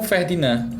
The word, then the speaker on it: Ferdinand: Ferdinand, com D mudo no final.